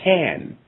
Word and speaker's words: than: So we see these gangs, and there's another word that actually means the same thing like a gang, but it's called tan. And it's spelled T-H-A-N, and it means also a gang or a binding or a group of individuals.